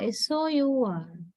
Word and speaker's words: sour: It's like sour, right? Am I correct? Yeah. There you don't have U sound.